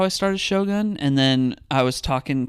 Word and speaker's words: Shogun: Although Shogun.